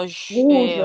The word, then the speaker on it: rouge: Y en rojo, Rouge, rose. rouge. Claro, esto Rouge. acuérdense que la OU se fuese como una U. Es rouge. Rouge.